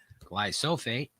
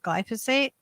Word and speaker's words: glyphosate: the makers of glyphosate often mispronounced glycofate wait glyphosate peaches is acting